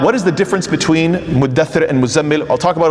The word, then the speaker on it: muddaththir: So instead of mutadaththir, it's muddaththir, and the letters get pushed together to make it easier for pronunciation and so forth.